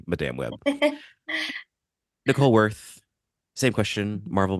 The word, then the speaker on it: Madame Web: web which for the record is the correct pronunciation that I will be saying Madame web Nicole worth same question Marvel movies fan not